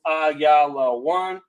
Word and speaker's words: Ayalawan: Ayalawan. That's how it's pronounced in Hebrew, Ayalawan.